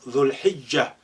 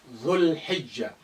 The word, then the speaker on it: ذو الحجة: That's the last month of Islamic calendar, called Dhul Hijjah, when Muslims go to Mecca to perform the pilgrimage. Dhul Hijjah. Look how this lengthening dhu now been shortened. You just link the dhu with lam sukun.